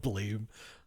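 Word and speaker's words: Blame!: I hate that it's actually pronounced blam because blame sounds mere like blame.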